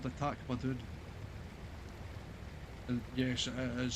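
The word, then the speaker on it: Tak-ma-doon: It was in Kilsyth, or just north of Kilsyth, heading up towards Carn Dam, and it was called the Tacmadoon. And yes, it is spelled exactly how you say it.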